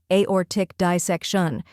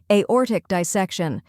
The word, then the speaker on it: aortic dissection: like the letter A or is emphasized like an orbit and tick is short and crisp next dissec shun where